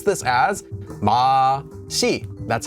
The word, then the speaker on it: 맛이: Normally, 맛있다 is from 맛 with the subject marker 맛이, because we have a consonant before here, so we can pronounce this as 맛이.